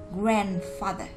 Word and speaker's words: grandfather: Và trong âm của nó rơi vào âm tiết đầu tiên, nên chúng ta sẽ đọc cái âm tiết đó mạnh hơn một chút, thành grandfather.